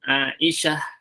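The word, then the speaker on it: عائشة: Sekalipun ketika Anda baca nanti ada sukun, Aisyah, tidak dibaca taknya.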